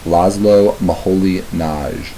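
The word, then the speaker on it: László Moholy-Nagy: world also on faculty at Bow house was LOM M Holly NJ that's how you pronounce his name llo maholi na um this is a work that's referred to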